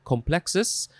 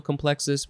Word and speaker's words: complex: From the Latin word, I guess, also complexus, which means embrace. That's good for that. Now we have the second form. You can pronounce this complex, again, or complex.